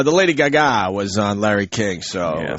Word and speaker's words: Lady Gaga: The Lady Gaga. For the hell of it, right? We have to pronounce it properly right now.